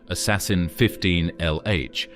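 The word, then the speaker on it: ASASSN-15lh: The supernova impostor, which is pronounced assassin 15 LH, was the biggest event that looked like a supernova that has ever been seen.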